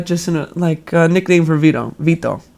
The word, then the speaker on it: Vito: Vito is how you say my name, Vito.